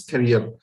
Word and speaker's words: career: or persons and similarly the pronunciation of the word carrier it's not carrier it's career okay so you can